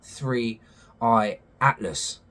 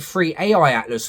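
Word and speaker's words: 3I/ATLAS: Now, with the presence of 3i Atlas coming on the scene, I said it right that time, God, go back to one of my videos. I kept calling it Free AI Atlas for some reason.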